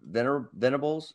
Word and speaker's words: Venables: I'm probably leaning towards Venables. Did I pronounce that right? Yeah, Brett Venables.